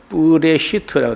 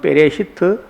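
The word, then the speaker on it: בראשית: 이 태초라는 말이 여기 요 앞에 있는 요 글자는 뿌라고 발음을 하고요. 이쪽에 있는 게 이쪽을 읽어서 레시트라고 합니다. 그래서 이어 붙여 읽으면 뿌레시트라고 돼요. 혹은 베레시트, 뿌레시트 이렇게 합니다.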